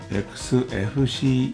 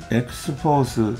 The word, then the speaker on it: Xfce: ところで Xspace の発音は XFCE が正式なんだそうです。 Xforce または Xface と呼ばれることもあります。